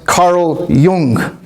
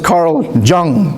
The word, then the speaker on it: Carl Jung: Another big name that attended those was Carl Jung. Some people mispronounce it as Carl Jung but it's German.